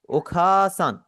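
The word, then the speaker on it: お母さん: ओखासान।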